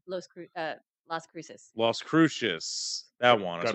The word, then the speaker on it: Las Cruces: Croutons? Las Cruces. That's how it's Oh. pronounced, right? Las Cruces.